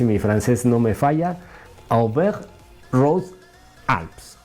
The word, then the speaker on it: Auvergne-Rhône-Alpes: Auvergne-Rhône-Alpes, así se pronuncia en francés, lo que se llamaba antiguamente el Tour del Dauphiné, el Criterium del Dauphiné.